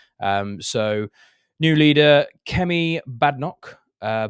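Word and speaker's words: Badenoch: we've had recently um so new leader Kem badok uh badok as I say her name um is the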